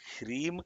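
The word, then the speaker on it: ह्रीं: The seed of all of these lokas is one bijam called Hrim. Hrim. It is not Hrim. It is not Hrim. It is Hrim. Hr. Hr. That's how you have to pronounce Hrim.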